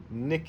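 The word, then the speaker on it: Nickit: Nick. It rhymes with snick.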